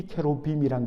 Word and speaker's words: 케루빔: 여러분 여기에 그룹들이라고 되어 있는데 이것은 정확하게 히브리 말로 제대로 발음하면 케루빔입니다. 케루빔, 이 케루빔이란 것은 하나님의 보좌 좌우에 서서 하나님의 뜻을 듣고 그것을 수행하는, 바로 하늘의 천군 천사를 뜻하는 히브리어 이름입니다.